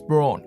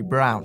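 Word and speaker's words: Braun: to German design is Brawn yes these are marketed as Brawn in the UK so that's how I'll be pronouncing it even though it technically should be brown they watching clock team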